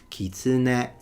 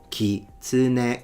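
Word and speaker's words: 狐: The Japanese, they don't stress any syllable and it's a heiban word. So it goes kitsune, kitsune, kitsune ga.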